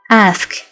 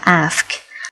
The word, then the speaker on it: ask: ไป เดท นั่น เอง ask อย่า ลืม ออก เสียง ทั้ง เสียง ตัว S และ เสียง ตัว k นะ คะ ask ตัว อย่าง นะ คะ